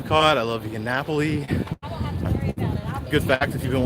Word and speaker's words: Napoli: I love you get Napoli good fact if you've been watching the channel long enough you know I used to pronounce that mega wrong and called it the pulley bounding it up